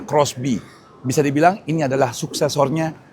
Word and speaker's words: XBEE: Di samping gua ini ada Suzuki XB atau bacanya Crossby.